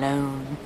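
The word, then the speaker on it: Lone: such a good name Tom loone rhymes with cone phone bone my God stop talking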